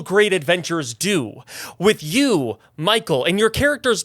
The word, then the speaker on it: Mikkel: absolutely and also it is pronounced it's it's Michael but it's spelled m i k- l m K yeah